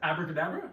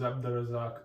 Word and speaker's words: Abdurazak: Abracadabra? Yeah. You're Abracadabra, right? Bro, you're Abracadabra? I need to get an autograph. No, my name is Abdurazak. Please say it right.